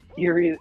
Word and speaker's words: Erie: Erie spelled like spooky Erie.